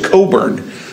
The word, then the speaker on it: Cockburn: His name's George Cockburn, spelled like Cockburn.